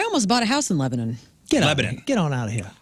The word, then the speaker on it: Lebanon: From Lebanon. I said it right this time. Not Lebanon. I got corrected 1,000 times this morning. Lebanon.